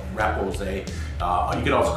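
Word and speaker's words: repoussé: about the process of repousse, or sometimes I hear it pronounced repousse, but I think that's more of the actual French pronunciation, but most of the people in North America call it repousse.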